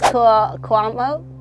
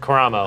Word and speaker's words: Karamo: There is Cuomo. Sure. Is that how you say it? Karamo.